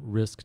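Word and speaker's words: RxISK: can um access um risk. org and make use of the resources there risk. org is spelled RX I rather than risk r r i if you go in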